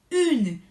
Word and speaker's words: une: Después tenemos el femenino singular, a este se va a pronunciar une, con U francesa, acuérdense, lengua pegado a los dientes de abajo, une.